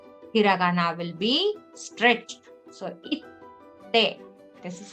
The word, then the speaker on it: 行って: So it won't be ite. Okay? Please remember that. It will be 行って、 itte.